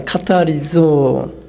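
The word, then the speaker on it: καθαρίζω: 정확한 발음은 카타리조입니다. 카타리조.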